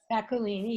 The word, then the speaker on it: Bacolini: Bacolini, yes.